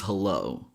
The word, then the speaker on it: hello: first word, which is hello. It's a simple word, but I want to show you what happens here because I'm sure it's going to help you. In this word, we emphasize the second syllable.